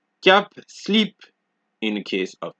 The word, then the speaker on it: slip: you see in French, you generally don't pronounce D's, P's, S's, T's, or X's. However, there are a few exceptions, just a few, such as sud, cap, slip, fils, bus, brut, ouest, huit.